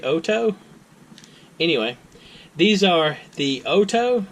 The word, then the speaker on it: OHTO: I mispronounced it before I pronounced it as Oh - it's a hto apparently it's supposed to be Auto anyway these are the